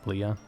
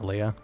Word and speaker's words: Leah: Leah, not Leia.